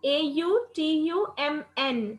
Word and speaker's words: autumn: AUTUMN. N is silent, so AUTUMN.